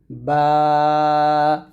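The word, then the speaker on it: ب: আলিফ আলিফ এরকম তারপরে বা দুই ঠোঁট মিল করে ওই ঠোঁট থেকে উচ্চারণ করতে হবে বা আবার বলেন আমার সাথে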